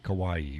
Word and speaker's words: Kauai: Again, tonight's coffee is Coconut Caramel Crunch from Kauai brand. It's like Hawaii, but with a K. Not spelled the same. It's not pronounced the same. It's pronounced Hawaii with a K, Kauai, but it's not spelled that way.